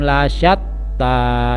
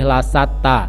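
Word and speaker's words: لشتى: Inna sa'yakum lasyatta. Ya, di situ ada huruf shin, jadi harus sedikit mulutnya didesahkan. Lasyatta, tidak boleh lasatta.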